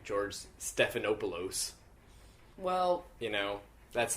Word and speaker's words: Stephanopoulos: The way you say his name is like George Stephanopoulos. Well, you know, that's like the real way you're supposed to say pronounce it.